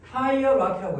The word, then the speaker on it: hierarchy: 그다음에 이 단어도 알아서 고3 때까지 계속 나오니까 hierarchy. 발음이 hierarchy라고 해요.